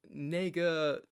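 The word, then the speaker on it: 那个: just said nego or in mandarin chinese for example there's this filler word that's spelled n-e-i-g-e so when you're in between thoughts you'll be like yeah you know nega and when you say kind of fast it's a little bit shocking the language what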